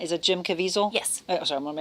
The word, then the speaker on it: Caviezel: The actor, I never know how to pronounce, is it Jim Caviezel?